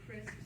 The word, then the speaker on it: Christ: My name is Chris, spelled like Christ.